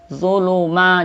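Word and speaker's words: ظُلُمَاتٍ: Zuluma, jangan du tapi zu ya.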